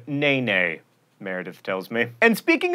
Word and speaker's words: NeNe: That should not be confused with the cast member of The Real Housewives of Atlanta who pronounces her name Nene, Meredith tells me.